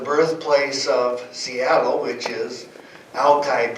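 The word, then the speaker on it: Alki: of Seattle which is alai Beach originally pronounced Ali with a short I and it was a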